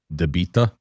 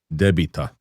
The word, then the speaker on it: debita: I hear a lot of people say deita. It's debita.